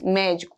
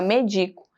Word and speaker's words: médico: Médico. Agora, se eu tirar esse acento, ele fica medico. Esse é o mais forte. Ele já muda a sílaba tônica.